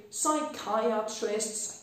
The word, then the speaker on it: psychiatrist: P przed S-ką milknie bardzo często w wyrazach typu psychic, psychiatrist, psychiatrist, psychologist, psychosis.